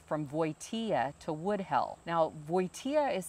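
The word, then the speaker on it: Wojtyła: his twin brother changed their last name from voitea to woodhell now voitea is spelled w-o-j-t-y-l-a and they felt that it was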